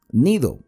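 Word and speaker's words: Gnido: penas frente a nido Cómo se pronuncia la g y la n juntas bueno nido porque nos impedía el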